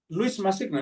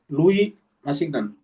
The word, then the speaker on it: Louis Massignon: Ini kalau tidak salah cara bacanya Louis ini kan kalau bahasa Prancis. Louis Massignon, ya, Massignon. Ya.